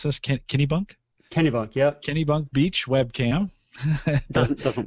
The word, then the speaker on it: Kennebunk: Yeah, on the bottom here, some interesting links, so you can get a live, and how do you pronounce this? Kennebunk? Kennebunk, yep.